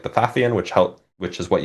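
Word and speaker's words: Pfaffian: So, Fathian is spelled with a P at the beginning, by the way, for those who don't know. And it's it's it's actually not PH is what's even worse. It's PF for some reason.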